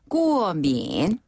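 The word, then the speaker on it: 过敏: 자, 한자는 똑같이 쓰고요. 발음은 꾸어민. 꾸어민.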